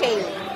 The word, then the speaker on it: Chely: So, and it's pronounced Chely.